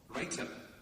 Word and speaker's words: writer: Writer. Writer. So that's an unvoiced or voiceless pronunciation, and the same word. Rider. Rider. With a voiced t in the middle.